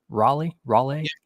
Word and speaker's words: Raleigh: Did I pronounce that right? Raleigh?